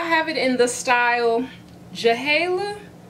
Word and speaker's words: JHALAY: So I have it in the style JHALAY. I don't know if the J is silent, but it's J-H-A-L-A-Y. JHALAY.